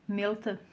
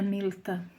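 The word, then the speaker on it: ܡܠܬܐ: De acordo com a pronúncia oriental, melta se pronuncia com um e fechado, quase fechando, chegando a um som de i.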